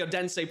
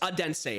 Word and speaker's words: Odense: You guys all butchered me in the comments saying I don't say Odense properly. Is it Odense? Odense? I think it's Odense.